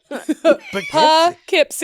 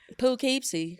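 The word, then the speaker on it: Poughkeepsie: So y'all saying it pipsy p I just the way it's on the way spelled the way it's spelled. Yeah. Like do but with a P. Yeah. It's like pookeepsy.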